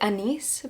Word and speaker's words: Agnes: I think you pronounce it Anise, but Agnes, his wife, who's known as Anne Hathaway, and his children.